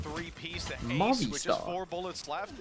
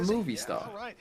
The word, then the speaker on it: Movistar: Movistar. Not movie star.